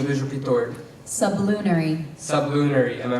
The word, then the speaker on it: sublunary: The concept was irrational to sublunary minds. Can you please repeat the word? Sublunary. Sublunary. Am I pronouncing it correctly?